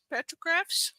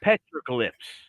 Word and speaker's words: petroglyph: Petrographs?